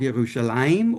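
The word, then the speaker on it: ירושלים: So in Hebrew, again, as I know most of you know, Jerusalem is called Yerushalayim, or in Aramaic, Yerushalem. And so the Arabs pronounced it that way too.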